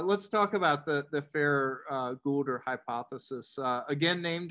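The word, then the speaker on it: Farrer: did his thesis unfair i asked him how to pronounce it and he said fair so okay good yeah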